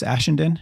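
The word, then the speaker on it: Ashenden: heard i've heard chris uh is it chris aschenden is that how i pronounce it yeah i've heard chris on uh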